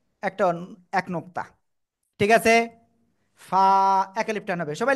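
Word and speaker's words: ف: যাবে তখন এভাবে একটা এক নুক্তা ঠিক আছে ফা এক আলিফ টান হবে সবাই লিখে ফেলেন দ্রুত দ্রুত اللہ ওকে সবাই এটা উচ্চারণ করেন জোরে জোরে ক না ফা নিচের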